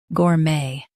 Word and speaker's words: gourmet: US uses gour. UK uses gaw. Keep may the same.